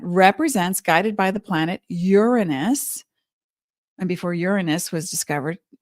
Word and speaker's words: Uranus: Uranus, the correct pronunciation.